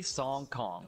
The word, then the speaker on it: Sang Kang: He's Song Kong. That's literally Song Kong. That's how you pronounce that.